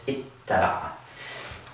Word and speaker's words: اتّبع: do this, where again, we double the ta, we add a shadda above it, and wind up with ittaba'a.